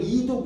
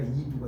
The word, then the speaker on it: 이두: 이걸 이독 이러면 무식하라고 해요. 이독이 아니라 이두가 되는 거예요.